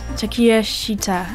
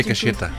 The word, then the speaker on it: Takeshita: My number 2 is Takeshita. I believe that's how it's pronounced. I went into Takeshita. Takeshita. Takeshita. That's at least what Google Translate said.